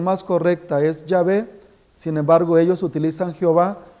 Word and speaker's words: Yahvé: durará para siempre y ahí reconocen que la pronunciación más correcta es yahvé sin embargo ellos utilizan Jehová porque es muy